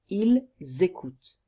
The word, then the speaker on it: ils écoutent: And you have to pronounce the z between the two of them.